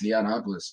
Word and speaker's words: Neonopolis: Is it pronounced Neonopolis? Yeah, it's Neonopolis. Neonopolis, which is June 13th.